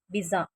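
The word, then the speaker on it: bizarre: பிஸா. இந்த word நம்ம அப்படி தான் ப்ரொனவுன்ஸ் பண்ணணும். ஆர் இங்கே சைலண்ட்.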